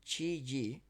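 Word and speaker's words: 吃鸡: If you win a brief gamer slang interlude, eating chicken pronounced chi ji means to win in PUBG.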